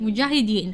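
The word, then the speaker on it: mujahideen: that funded the the muah why can't I pronounce it mujahidin right it was also Saudi and Pakistan a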